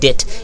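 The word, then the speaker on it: debt: ইফ যদি the letter fail to পে হিজ কি ডেট, এটা প্রোনাউন্সিয়েশন কিন্তু ডেট, ঠিক আছে, তার ঋণ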